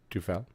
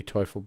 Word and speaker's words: Teufel: And you got Teufel, or Tufel, but, depending on how you want to pronounce it. It really should be Teufel, but some people have a hard time comprehending how that's spelt.